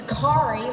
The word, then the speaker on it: Khari: name always gets mispronounced it's khari like Ferrari how many years